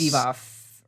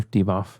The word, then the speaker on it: Divoff: Divoff, or how would you pronounce that? Luis Colley. Yeah. Andrew Divoff. Okay. Andrew Divoff.